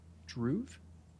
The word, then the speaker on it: Dhruv: And you said it is Dhruv? Yes, it is. You You pronounced it correctly.